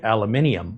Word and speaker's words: aluminium: What I thought was interesting is in England, they'll say aluminium, which I thought was a different pronunciation.